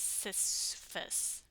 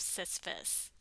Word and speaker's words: Sisyphus: new K-drama with a rather strange and awkwardly pronounced title. Sisyphus. Sisyphus. I'm pretty sure it's Sisyphus.